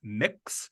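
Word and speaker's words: Mx.: So there is a gender neutral title that's pronounced mix. And it's a combination of mick like McDonald's and mix like, to mix things up.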